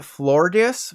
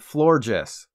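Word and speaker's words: Florgès: Pokemon it evolves into I called it florges for as long as I can remember but I should have been thinking of Zooey Des Channel's character from New Girl and called it floor Jess and how about we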